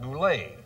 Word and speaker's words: Goulet: many words for example Robert Goulet T is silent I didn't know that